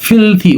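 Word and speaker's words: filthy: এটা ফিলদি না, ফিলথি উচ্চারণ হবে, হ্যাঁ, ফিলথি মুড, খারাপ মেজাজে থাকা।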